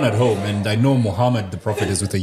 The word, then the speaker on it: Muhammad: feeling his name wrong it's not mu it's m o Muhammad Muhammad yeah I found out when I read about Muhammad Salah ah yeah it wasn't supposed to be moo yeah that's exactly what